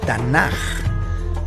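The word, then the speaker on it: תנ״ך: Note cómo el acrónimo de estas palabras hebreas quedaría como las 3 letras, Tav, Nun, Kaf, pero se lee Tanaj.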